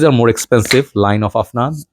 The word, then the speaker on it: Afnan: six is this one Americans say F none this is actually afnan tobacco rush I'm actually